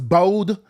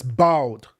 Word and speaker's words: bald: So obviously people are saying, you say you I don't know why he's pronounced as bold, but it's bald, okay?